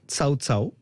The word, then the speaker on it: Cao Cao: Alors, ça s'écrit KO, mais vu que c'est une société à capitaux chinois, ça se prononce à la chinoise, Cao Cao.